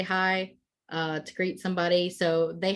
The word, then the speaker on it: Haigh: It's spelled Haigh in Irish, but it's still just hi, which people will use too.